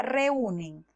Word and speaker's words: reúnen: Por ejemplo, la palabra reúnen es una palabra grave. Según las normas de acentuación, las palabras graves solo se acentúan cuando terminan en consonantes diferentes a N o S. A pesar de que es una palabra grave, su sílaba tónica se encuentra en la U y por lo tanto forma un hiato.